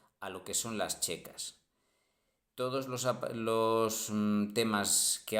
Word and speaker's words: checa: de la unión soviética la ck pronunciado Checa previo a a la